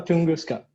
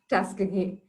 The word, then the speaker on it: Tuskegee: Not sure if I'm pronouncing it right. Is it Tuskegee or Tunguska? Yeah, the first one you said, Tuskegee.